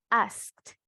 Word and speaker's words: asked: Ask, agregamos ed. Entonces, pronunciación correcta, vemos acá cómo lo cambia. Asked, asked. ¿Verdad? Ese t tiene que sonar.